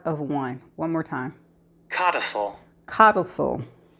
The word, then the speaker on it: codicil: Okay, the word is spelled Codicils, and this is how it is pronounced. Codicil. Codicil.